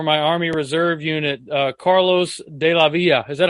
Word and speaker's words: Delavilla: first sergeant for my Army Reserve unit, Carlos Delavilla.